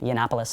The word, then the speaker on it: Yiannopoulos: interviewed a Milo uh how do you pronounce his last name yiannopoulos the Annapolis the infamous